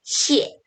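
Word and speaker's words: 谢: 이럴 때는 에라고 읽어주셔야 돼요. 그래서 보다는 시에 이런 소리가 만들어집니다.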